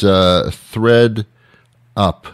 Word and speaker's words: ThredUp: Goodman, and once again, it's Thread Up, THREDUP. Is that correct? Yes, it is. Yeah, because that's spelled a little different.